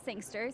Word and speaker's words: Sangster: I am on Instagram at Sangster, CaitSangster. It's also spelled like gangster with an S.